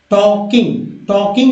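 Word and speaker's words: talking: सो, तो सो बोलेंगे सो वी आर नॉट टॉकिंग या टॉकिंग। तो एल जो है दोस्तों ये जो है नगण्य है, साइलेंट है, एल जो है साइलेंट है।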